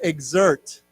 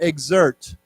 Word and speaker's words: exert: say to get an exert it has a z sound exert okay so even though